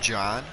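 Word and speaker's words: Jhon: That's pronounced John. J-H-O-N.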